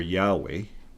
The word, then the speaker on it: Yahweh: of Jehovah your God or Yahweh your would be the correct pronunciation that I am commanding